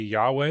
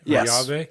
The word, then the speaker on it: Yahweh: The The correct pronunciation would be Yahweh or Yahveh.